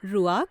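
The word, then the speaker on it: רוּחַ: इब्रानी भाषा में इसे रुआक कहा गया है। रुआक हां शब्द के अंत के उच्चारण में आपको अपना गला साफ करना पड़ेगा।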